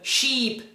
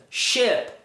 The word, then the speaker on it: ship: Se você pronuncia live, sheep, te, você não tá pronunciando corretamente, você tá pronunciando outras palavras. Essas palavras são pronunciadas live, ship, tip.